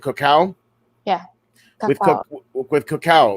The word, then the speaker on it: cacao: and her business with the Koch how is that how you say it cacao yeah we've talked with